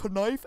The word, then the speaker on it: knife: The K is silent. You don't say knife. It's just knife.